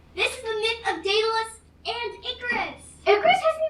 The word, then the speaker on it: Daedalus: with an S and rhymes with hmm rhymes with escalius sort of wait no Pegasus it rhymes with Pegasus no idea I have no idea ridiculous it's Daedalus I mean I hate